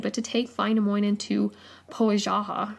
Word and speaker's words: Pohjola: to take Wainamoinen to Pohaja, or Pohaja? Anyways, Pohjola. It's spelled Pohjola. Sorry to all you Finnish people out there and everyone else that can pronounce that. Pohjola.